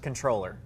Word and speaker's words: Comptroller: Comptroller by the way if you see Comptroller it's pronounced controller you'll sound smarter to